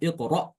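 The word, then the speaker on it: اقرأ: kita tinggal sukunkan aja hamzahnya ya. Karena hamzahnya juga sukun dan dia juga wakaf. Wakaf baru sukun maka dibaca iqra ya.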